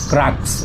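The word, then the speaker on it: Crux: হচ্ছে মডেল হচ্ছে হচ্ছে ক্রাক্স Yamaha ক্রাক্স সি আর ইউ এক্স আমি ক্রাক্স বলি কেউ কেউ দেখে আবার ক্রুক্সও বলে তো এটা জানিনা এটা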